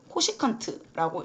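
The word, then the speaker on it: cosecant: 이렇게 쓰는데 얘를 뭐라고 읽냐면 코시컨트라고 읽습니다. 읽을 때는 코시컨트.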